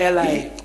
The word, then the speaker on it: Eli: Not Eli. Eli. Eli, all right. Thank you. You see, now you pronouncing like a European. Yeah. I'm pronouncing like a Jew. Because I'm nearer to the Jew. I'm nearer to the Jew in my language. Arabic and Hebrew are sister languages. So I say Eli.